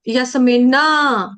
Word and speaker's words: यस्मिन: पद पर्यंत यसिन भू यस्मिन का न हलंत है यस्मिन ऐसे नहीं पढ़ना पिना यस्मिन यस्मिन मिन जैसे हम बोलते हैं ना मिनी्नी मिन्नी बोलने के लिए हम पहले मिन मिननी मिन्नी बोलने के लिए मिन पढ़ेंगे ना मिनी्नी यस्मिन गना निवर्त